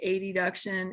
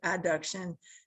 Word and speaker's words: adduction: use these words a lot, will often say adduction and abduction, just because those words sound so similar, but that's not how you pronounce it. You pronounce it adduction and abduction.